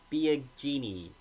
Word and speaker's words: Biagini: pitch coming in to pitch for Toronto Joe Biagini correct pronunciation here finally something different after a groundout